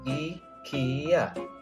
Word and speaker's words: IKEA: learn how to pronounce ikea in 3ds it's pronounced as ikea and it stands for ingbar kamprad and agundarid